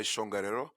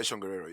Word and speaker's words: Tjongarero: I'm known as shongariro so that the TJ you kind of pronounce like a CH but uh it's it's a good bit anyway so that's my name shangharero yeah perfect thank you